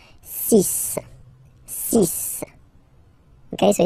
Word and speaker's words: six: And be careful here, because even if it's ending with this X, well, you'll have to pronounce it like S, okay? So you get the six pronunciation. Six, six.